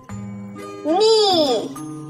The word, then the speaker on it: knee: Knee. Bend your knee. K-N-E-E. K is silent.